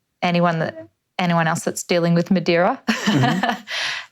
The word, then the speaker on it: Madeira: In South America, we would pronounce this plant as Madeira.